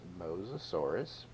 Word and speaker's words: Mosasaurus: So this is Mosasaurus. So we'll spell that.